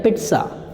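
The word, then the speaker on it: pizza: ये इसको आप पिज़्ज़ा बोलते हैं, पिज़्ज़ा। आज तो मैं मार्केट जा रहा हूँ पिज़्ज़ा खाना, जबकि राइट होता है पिट्सा, पिट्सा, पिट्सा, पिट्सा।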